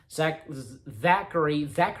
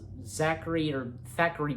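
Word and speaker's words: Thackery: singing, "Come Little Children," Zachary Binks, because Thackeray Binks, because there's a T and H, so I guess I have to say it like that.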